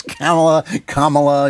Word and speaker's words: Kamala: It's Kamala, you know.